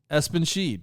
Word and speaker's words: Espenschied: Espen, like ESPN. Yes. And then Sheed. That's it. Espenschied.